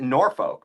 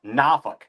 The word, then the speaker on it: Norfolk: being in living in Virginia now we don't pronounce it Norfolk because it's n o r f o k f o l k Norfolk no it's nauk like I'll say not F this is what